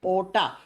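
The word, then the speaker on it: aorta: नाम नाम होता है ओटा स्पेलिंग होती है ए ओ आर टी ए इसको ओटा या योटा प्रोनाउंस करते हैं ठीक है प्रोनंसिएशन के समय आर को साइलेंट कर देते हैं योटा या ओटा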